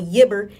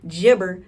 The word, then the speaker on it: Yibber: Also on a new app called Yibber, you know what I'm saying? Jibber for the fucking grammar police. I pronounce it as Yibber, you know what I'm saying?